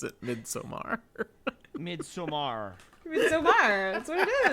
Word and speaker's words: Midsommar: Appreciate that we all continue to pronounce it Midsommar.